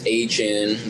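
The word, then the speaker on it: Etienne: pronounce it, but Travis Etnen or however you say that. He actually came out and said it's HN.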